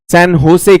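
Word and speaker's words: San José: और Costa Rica की राजधानी है सैन जोस। हम कहेंगे भारतीय, वो लोग इसे सैन होसे कहते हैं। जे को वो ह की तरह प्रोनाउंस करते हैं क्योंकि स्पेनिश भाषा में।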